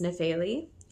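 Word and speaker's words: Nefeli: you pronounce it and the best pronunciation I could find was nepheli so n-e-f-e-l-i and I saw Grace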